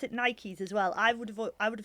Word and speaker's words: Nike: And so I noticed you pronounce it Nikes as well.